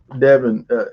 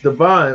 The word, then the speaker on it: Devon: Thank you, Devin. Devon. I keep saying your name. The way it's spelled, it's Devon.